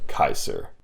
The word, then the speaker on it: Caesar: lived his name was Gaius Julius Kaiser and that's how you pronounce it but I'll call him Gaius Julius Caesar anyway saves me the trouble